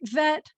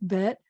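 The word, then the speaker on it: בית: And you'll notice it's not Aleph Bet Vet. It's just Aleph Bet, Gimel, Dalet, Hey, Vav, Zayin, Chet, Tet, Yud, Kaf.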